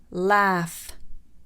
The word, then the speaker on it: laugh: So for the f sound, enough, enough. Cough, cough. Rough, rough. Laugh, laugh.